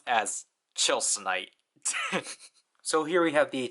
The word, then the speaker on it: Tilsonite: chilite but it's officially romanized as Tonite but pronounced as chilite so here we have the chilite sword out